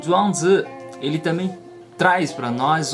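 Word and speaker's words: 庄子: Em chinês a gente pronuncia Zhuangzi, é o nome de um grande mestre taoísta, junto com Lao Tzu e Liezi.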